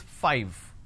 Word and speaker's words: five: a while ago is five all right now the pronunciation is 5 f i v e five so I need to I need to bite my lower lip to end the word it's five the second one is